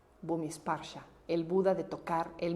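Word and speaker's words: Bhumisparsha: Depende si es pali o sánscrito, pero en sánscrito es sparsha. Sparsha, Bhumishparsha, Bhumishparsha.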